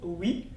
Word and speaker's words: oui: fait donc une dièse, ce qui n'est pas le cas dans le mot oui qui est composé des mêmes voyelles mais qu'on prononce en une seule fois.